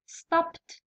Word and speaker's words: stopped: Next word، الكلمة الثانية واش عندي stopped، stopped ت، هاكو تشوفو ت. علاه قري علاه نطقناها ت؟